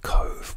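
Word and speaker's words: Cobh: Next day we went to Cove, which is spelled C-O-B-H.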